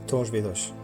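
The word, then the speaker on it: Torres Vedras: La ville c'est Torzed Dras au nord de Lisbonne. En portugais ça se prononce Torche Vedch.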